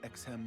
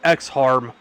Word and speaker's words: Exham: I'm glad they pronounced that, because if I had seen that and tried to pronounce it phonetically, I would have said X-Harm. Like X-Death, only less permanent.